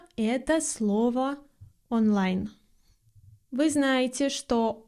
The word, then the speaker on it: онлайн: Вы знаете, что о без ударения произносится как а или как шва. Но в слове онлайн она нередко звучит как олайн или как что-то среднее между о и а онлайн.